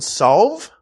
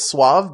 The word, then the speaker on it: Sauve: Thank you to Caitlin Sauve. I thought it was Suave, but it's spelled S-A-U-V-E. Thank Sauve.